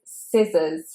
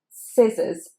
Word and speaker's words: scissors: Number 29 is scissors, scissors. So here you want to forget the letter C, it is silent.